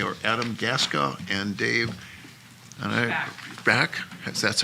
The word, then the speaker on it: Schback: They are Adam Gaska and Dave Schback. That's how it's pronounced? Schback?